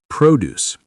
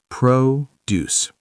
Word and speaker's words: produce: Produce. Produce means fruits and vegetables. Stress on first syllable.